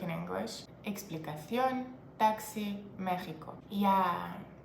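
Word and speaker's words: México: is the same like in English exp Taxi Mexico yeah it's Mexico and mexicos and God forbid you pronounce it like Mexico or Mexicanos in front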